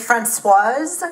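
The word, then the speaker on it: Françoise: Hi everyone, my name is Francoise, that's with an E on the end, so you pronounce the S.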